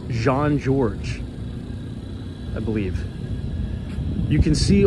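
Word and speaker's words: Jean-Georges: Michelin star restaurant I I believe it's pronounced Jean George I believe you can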